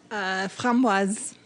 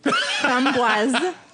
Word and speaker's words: framboise: Framboise. See the S on the end? Say it again. Framboise. I hear beer nerds fuck this up all the time. You say the S. It's not framboise.